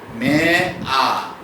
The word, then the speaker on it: mare: এটা অনেকে মেরি বলে, কিন্তু এটা মেরি না, মে আ।